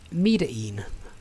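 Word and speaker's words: Medellín: and starting agent one a token says it's pronounced uh metering fair enough i won't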